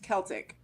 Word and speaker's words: Celtic: origin of the word was originally pronounced that like a hard C like kite and Kilt Celtic okay okay go ahead